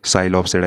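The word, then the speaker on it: Psilopsida: तो इन सब फाइलम में फर्स्ट वन फाइलम जो है वो है साइलोप्सिडा, यहाँ पे पी साइलेंट होता है।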